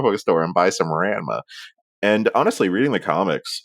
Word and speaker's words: Ranma: MC Comics oh and sorry and I'm I'm pronouncing it correctly now but with my Canadian accent where we only have like the most nasal vows was oh there's Ranma there's Ranma Comics I'm